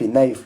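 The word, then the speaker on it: knife: एन मिले हुए हैं, कॉम्बिनेशन में एन, के साइलेंट रहेगा। इसको पढ़ेंगे नो। दूसरा KNIF, नाइफ।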